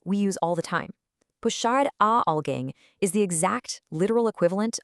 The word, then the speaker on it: puxar alguém: The core phrase we're looking at today is puxar alguém, and the definition is actually pretty simple.